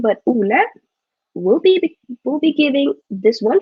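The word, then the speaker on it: Ole: don't i don't know why i said olay out because his name is that's how you pronounce it in norwegian but oola we'll be giving this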